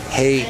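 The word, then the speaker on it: Hay: to Serb his name is officially changed to hey spelled and pronounced h a y s o it's official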